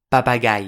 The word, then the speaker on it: papagai: Ce n'est pas mais . Car le mot se prononce « papagai » (perroquet). Et vous remarquerez que l'accentuation tonique tombe bien sur la dernière syllabe.